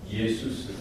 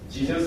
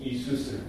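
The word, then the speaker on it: Ἰησοῦς: 예수스. 한번 따라해 보시겠습니까? 예수스. 네. 예수가 뭐라고요? 예수스. 지저스 아닙니다. 지저스는 영어 발음이에요. 헬라 발음은 뭐야? 예수스 혹은 이수스.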